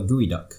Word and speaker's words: geoduck: a creature called the gooey duck have you heard of the Norvig we dog it's pronounced gooey duck but it's spelt geoduck GE owned up and